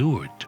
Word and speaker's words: Lourdes: Today, the spring at the grotto and the large Basilica later built at Lourdes (pronounced “loord”) have become the destination of millions.